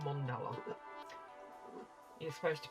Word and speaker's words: mandala: Oh, apparently I'm pronouncing mandala wrong. It's mondala.